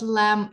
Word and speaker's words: lamb: uh do you know what lamb is B is not pronounced yeah the uh